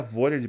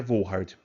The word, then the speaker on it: Volhard: O pessoal fala Vollard, pessoal, né? Não é errado, né? Como o nome é alemão, a pronúncia correta é Volhard.